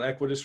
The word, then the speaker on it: Equitas: Am I saying it right? Equitas. Yeah. Equitas. So can you talk a little bit about Equitas real quick, since I know that you're friends? And it is Equitas.